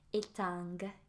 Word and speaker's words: étang: It's got a G. You don't pronounce it. For some reason, we pronounce the T in en fait, but we don't pronounce the G here, so there's that.